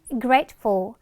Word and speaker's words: grateful: 자, 세 번째는 grateful, 감사하는 이란 뜻인데 자, 중간에 트 발음을 grateful 이렇게 할 필요 없어. 원래 이 트하고 드가 어떤 공통점이 있냐면 끝에서는 약하게 들리거나 탈락이 되고요. 가운데서 마찬가지로 이 트 발음이나 드 발음 좀 약화가 많이 돼요.